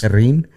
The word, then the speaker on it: Herrin: Herrin? You got to roll the R's and not pronounce the H.